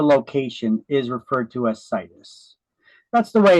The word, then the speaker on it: situs: I like to pronounce it as situs, because once you find that perfect location where you want to move, you want to build a house. Sit us there. Yep, we're going to sit us right here.